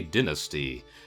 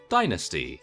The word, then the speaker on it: dynasty: Well, if you take a very small reminder that I am English, and in England we say dynasty, and in the US they say dynasty.